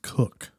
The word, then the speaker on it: Koch: that's usually pronounced Koch. Koch? I know, it's weird, right? Because it looks like K O C H is Koch? Yeah, that I mean, that's how I've heard one person do it, but I think they were just trying to avoid being pronounced as Okay, the male chicken.